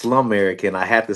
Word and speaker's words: Slumerican: It's It's It's pronounced Slumerican and I had to say that Slumerican.